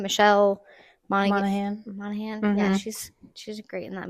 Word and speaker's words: Monaghan: Michelle Monaghan.